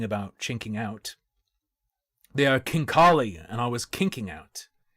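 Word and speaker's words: khinkali: They are not pronounced chinkali, although I thought it might be. And I was yelling about chinking out. They are kinkali.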